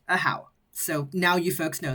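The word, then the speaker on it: Ajaw: this little Dino's name is a how and it's spelled a jaw a jaw but it's pronounced a how so now you folks know that if if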